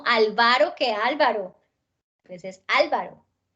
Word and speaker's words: Álvaro: Método, monosílabo, miércoles, filántropo, química, Álvaro, Angélica. Y aquí empezamos a ver, como desde atrás, que los nombres sí tienen ortografía. ¿Listo? Porque no es lo mismo Álvaro que Álvaro. Pues es Álvaro.